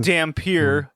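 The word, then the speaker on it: Dhampir: It's pronounced Dampier.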